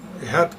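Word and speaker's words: אחד: El famoso vocablo Ehet, o Ehat, como lo pronuncian ustedes, que significa los principales.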